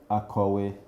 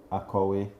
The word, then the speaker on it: akowé: So this is a Nigerian word, a Yoruba word to be precise, and it means a teacher or someone who's written a book or a writer, and it's pronounced Akowe, Akowe.